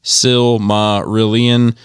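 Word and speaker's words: Silmarillion: but regarding this similarion he says pronounced sil ma rillian oh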